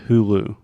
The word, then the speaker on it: Hulu: this in Portuguese okay in English we say Hulu Hulu okay try to repeat with me who who so exactly like who did this yeah who are you who okay but Alexia it's not who who that almost seems French who who